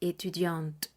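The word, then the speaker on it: étudiante: será e etud en el caso que sea mujer femenino estaremos diciendo e etudiant estaré diciendo la t del final Por qué Porque Estudiante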